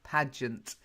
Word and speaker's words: pageant: Well, I can understand why you got that at the beginning, because it looks like page, but it's not. It is pageant.